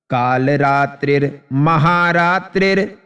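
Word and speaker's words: कालरात्रिर्महारात्रिर्: देखिए काल रात्रि है और यह म के ऊपर जो र है वो र रात्रि के साथ में आ जाएगा इधर का भी र रात्रि के साथ में आ जाएगा तो आपका का शुद्ध उच्चारण होगा काल रात्रिर महा रात्रिर मोह रात्रि च दारुणा पूरा लयबद्ध करते हैं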